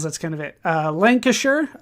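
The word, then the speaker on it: Lancashire: Uh Lancasher, that's how I've been told to pronounce that is over here.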